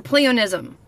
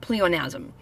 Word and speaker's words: pleonasm: So today we've got pleonasm or pleonism, but it's spelled asm, so I'm pronouncing it pleonasm.